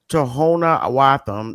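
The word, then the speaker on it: Tohono O'odham: His death was touched off by an outcry on the Tanamo Odum pronounced Tohona Awatham Nation which lies along 62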